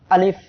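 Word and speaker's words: ألف: সবাই আমার সাথে উচ্চারণ করেন, আলিফ। আলিফ উচ্চারণের সময় প্রথমে একটা ধাক্কা হবে, তারপরে আমরা যখন শেষ দিকে যাব উচ্চারণের, তখন নিচের ঠোঁটের পেট উপরে দুই দাঁতের আগার সঙ্গে লেগে হালকা বাতাস বের হবে।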